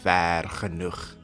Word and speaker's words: Vergenoeg: Yeah, well, I like to pronounce it like the Afrikaners because that's the way to pronounce it. Vergenoeg.